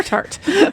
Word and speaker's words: Tartt: And that was The Secret History by Donna Tartt. Yes. Or tart. Nope, it's there's two T's, so it's pronounced tart.